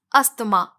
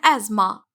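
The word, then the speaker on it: asthma: ये वर्ड आपने बहुत से लोगों को बोलते हुए सुना होगा अस्थमा, जो कि सांस की बीमारी है। स्पेलिंग के हिसाब से देखा जाए तो ये अस्थमा ही है, लेकिन इसकी करेक्ट प्रोनाउंसिएशन है एज़मा।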